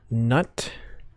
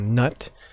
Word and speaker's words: Gnut: new Fusion dwarf called nut I think the g is silent so I'm just called nut it looks kind of